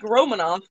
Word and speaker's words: Romanoff: torte strawberry romanoff mango are you sure it's pronounced romanov yeah oh no yeah like romanov like the russian family the roma romanovs no